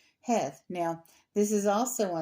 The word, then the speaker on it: Heth: And this section is called Het. Now, we look at that word, Heth, and it looks like Heth, like the old English word or Middle English word for had or have.